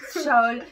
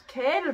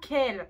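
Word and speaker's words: Chaol: donc il paraît qu' ça se prononce apparemment quelle mais ça s'écrit C H a o l bah oui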